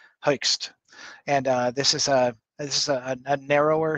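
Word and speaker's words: Hoechst: There is a dye called Herxt. It's difficult to pronounce, but it's spelled H-O-E-C-H-S-T, Hoekst.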